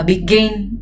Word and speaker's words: begin: Become và begin đều quen đúng không, đều là trọng âm hai.